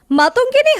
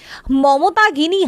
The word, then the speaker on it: মাতঙ্গিনী: সাধারণতন্ত্রদিবস অনুষ্ঠানে কোচকাবা চলাকালীন মাতঙ্গিনী হাজরার নাম উচ্চারণ করা হয় মমতাগিনী হাজরা।